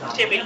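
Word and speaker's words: table: এই বিল আমরা বলি টেবিল টেবিল না বলে আমরা কি বলব টেবল টেবল টেবল ওকে এরপরে আমরা বলতে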